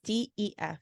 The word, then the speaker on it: DEF.: It's DEF in case thank you. sounds like sounding death. like death. Yeah. Right. That's my bad. Def. So Def is JB's singer, songwriter, producer persona.